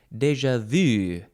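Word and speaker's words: déjà vu: of page 329 is it's a good one deja vu I guess some people also say more Frenchy deja vu deja vu it is spelled d-e-j-a that's the first word and the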